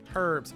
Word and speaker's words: herbs: they're called herbs amble herbs herbs curbs the age is silent i have to tell you that as a scientist and researcher herbs don't say the h and i'm a dummy